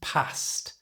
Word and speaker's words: passed: passed away. These are considered polite and respectful. To pronounce this correctly, the e d at the end is said with a t sound. So, it's past.